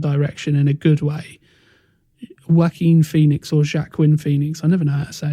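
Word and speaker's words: Joaquin: a completely different Direction in a good way wackin Phoenix or jacqu Quinn Phoenix I never know how to say his name I say wacken yeah yeah he was offered the role of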